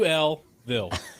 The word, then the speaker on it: Louisville: It's Louisville. It's actually Louisville. It's it's not Louis.